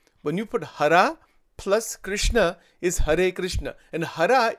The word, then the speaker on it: Krishna: Bhagwan ko, it doesn't, because people in North India say Krishna. In Gujarat, they say Krishna. The actual pronunciation is Krishna.